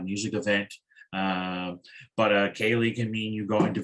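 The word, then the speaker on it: ceilidh: viewers who may not know exactly what a kaylee is it's spelled c-e-i-l-i-d-h a kali uh literally it means a visitor gathering it's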